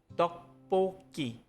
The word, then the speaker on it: 떡볶이: In 떡볶이, the final consonant 쌍기역 in 복 moved to the vowel 이. It becomes 떡볶이.